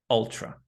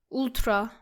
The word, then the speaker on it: ultra: Our first word is ultra. Don't say it like ultra. It's ultra. Ultra.